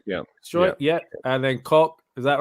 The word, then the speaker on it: Koch: How do you pronounce this? Is it Struijk? Is that right, Tom? Struijk, yeah. Struijk, yeah. And then Koch.